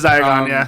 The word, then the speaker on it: Diagon: How do you pronounce it? Diagon? Diagonelli. No, that's how he says it in the thing. Yeah, it's Diagon.